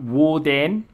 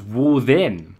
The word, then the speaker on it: Woden: Divine personality in question can be pronounced to fold so we've got wooden arguably a later pronunciation and or uh as Wu then arguably an earlier pronunciation and that's it for